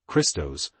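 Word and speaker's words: Χριστός: The initial sound in the word Christ, pronounced as Christos, referring to the Anointed One or Christ.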